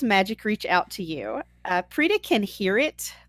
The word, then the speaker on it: Preeta: Cam, how about you tell us about Preeta? Am I in the ballpark? You are, yes, you're pronouncing it correctly.